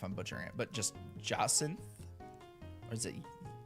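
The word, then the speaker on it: Jacinthe: It is a soft J, but it's an aunt. Jacint.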